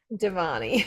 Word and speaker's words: Devani: Devanni. Deani.